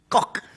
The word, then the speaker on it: Koch: His name is Conrad Koch. Koch. It's not my name. What? It's Koch.